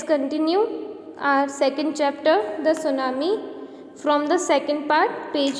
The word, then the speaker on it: tsunami: Okay, now students, it is not tsunami, it's जो उसका pronunciation है वो है tsunami. T silent है.